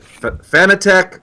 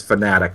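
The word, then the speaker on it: Fanatec: ago I asked him how do you pronounce it is it fitech or fanatic and he specifically said it's fanatic but tomato tomato potato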